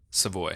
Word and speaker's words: Savoie: get the confusion yeah it's a French Canadian my grandpa's a Yer